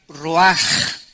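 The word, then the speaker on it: רוח: Esta palabra vientos es la palabra hebrea roach, que se pronuncia roaj. La CH en el hebreo se pronuncia como J, y que es la palabra espíritus.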